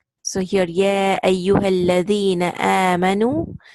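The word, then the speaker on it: آمنوا: So here, ya ayyuhalladhina amanu. Now here, see the amanu, the last alif, this is silent. You just recite noon, dhamma, and wow. Nu. That last alif will be silent.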